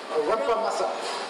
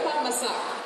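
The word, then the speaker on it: rempah masak: Masak. Rempa masak. There you go. That's correct. Okay. Rempa masak.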